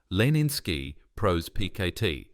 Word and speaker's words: Leninsky Prospekt: He described the location as a building on Leninsky Prospect, pronounced Leninsky Prospekt, on the 3rd floor.